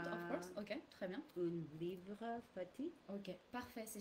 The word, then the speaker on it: un: The smiling face and the nasal sound together.